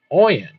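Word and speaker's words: Ayin: The 16th letter is Oyen, pronounced Oyen, formed like this.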